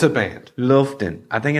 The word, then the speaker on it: Loftän: sure that I ask, but it looks like Loftän. But it's got an umlaut because one of the members is German. No, it's not an IKEA couch. No. It's a band. Loftän.